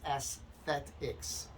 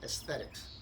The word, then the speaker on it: aesthetics: correctly by the way it's Aesthetics a-e-s-t-h Aesthetics not Aesthetics Aesthetics it's a pet